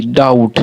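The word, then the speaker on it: doubt: बाद जो बी है वो बी हमारा क्या है साइलेंट है जैसे डी ओ यू बी टी डाउट लेकिन बी अगर इसमें नहीं रहे तो ऊपर भी आप इसे पढ़िए डी ओ यू टी डाउट लेकिन ये आपका डाउट सही नहीं होगा जब बी नहीं रहेगा तो बी इसमें रहना बहुत जरूरी है उच्चारण नहीं होता है मतलब साइलेंट होता है लेकिन लिखना वर्ड में बहुत जरूरी है।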